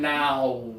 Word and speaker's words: now: This one here, make the motion, start big and close down now.